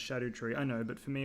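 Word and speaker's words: Scadutree: The Scardo tree is pronounced shadow tree.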